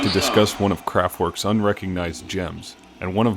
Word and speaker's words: Kraftwerk: Also to add, I may refer to Kraftwerk as Kraftwerk, the American English pronunciation of the name, just out of habit, so for all of the purists, please excuse the pronunciation.